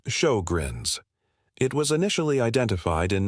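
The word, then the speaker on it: Sjögren's: The name is pronounced as show-grins.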